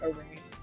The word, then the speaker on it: Arun: But he pronounced it Arun. Arun, yeah. I've never heard that pronounced Aaron. Always Arun.